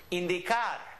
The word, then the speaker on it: indicar: All right, this word, indicar. Indicar. I'm saying indicar because here we have an E sound, in, here we have D, and here we have car. Indicar.